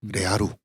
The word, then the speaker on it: 레아루: 그거를 리얼이라고 발음 안 하고 일부러 일제식으로 발음해서 침착자들이 레아루.